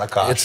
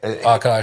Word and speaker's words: Akash: And in the last year, he goes, it's not Akash. It's Akash.